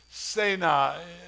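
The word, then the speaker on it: סְנֶה: Incredibly, he walks up to this bush, and the Hebrew word for the bush is Sena. The Anglicized version, we would spell it S-E-N-E-H in English.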